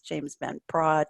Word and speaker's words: James Van Praagh: Wayne Dyer, Louise Hay, Christiane Northrup, Carolyn Myss, James Van Praagh, to name a Prague. Is that how you pronounce the name, James?